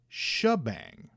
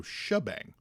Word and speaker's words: Shebang: Eric says, in the toy commercial for the Ninja Force figures, they call Tabang Shebang. So he says that's how it's supposed to be pronounced. So Shebang.